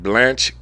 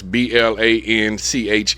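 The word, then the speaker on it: Blanche: I be saying his name wrong. It's B L A N C H E. I said Blanch. Blanch. K. Bruce. Sound like Blanch to me.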